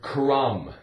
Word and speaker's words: crumb: How about the word crumb? C-R, cr, cr, crumb. U-M with a silent B.